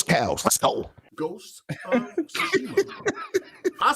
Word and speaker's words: Tsushima: And it's Ghost of Tsushima.